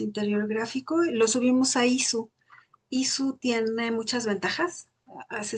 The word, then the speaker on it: Issuu: Lo subimos a ISU. ISU tiene muchas ventajas. Se escribe ISSUU porque tiene versiones gratuitas.